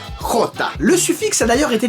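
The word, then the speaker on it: Jota: il ya le nom iota en gros c'est la lettre j en espagnol qui se prononce crotta le suffixe a d'ailleurs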